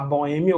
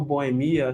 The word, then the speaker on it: boêmia: falando em acentuação gráfica existe também dupla pronúncia prosódica Você pode falar Boêmia ou Boemia shero Shox né nossa